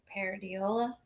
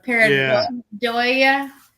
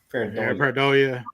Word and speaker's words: Pareidolia: And well, and it's also, and I hate to say that word because I say paradiola. Did I say it right? Oh yeah, I get that. Pareidolia. Pareidolia.